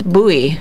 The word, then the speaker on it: Bowie: I say Bowie, a Bowie knife, but it's Bowie.